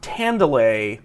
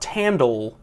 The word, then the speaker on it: Tandale: Don't worry, it's pronounced Tandale, not Tandle, but they never tell you that.